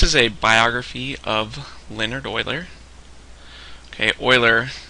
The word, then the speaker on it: Euler: a biography of Leonard Oiler okay Oiler his last name is actually pronounced as Oiler and here's a picture